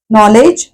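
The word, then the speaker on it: knowledge: अक्षर आहे silent नॉलेज नॉलेज नो सारखंच नॉलेज नॉलेज उच्चार आपण सुरुवात करतो न पासून पहिला के म्हणजे क नॉलेज असं काहीतरी नाही म्हणत कधी आपण कचा उच्चार केचा उच्चार होत नाही म्हणून के हे अक्षर सायलेंट नॉलेज अर्थ आहे ज्ञान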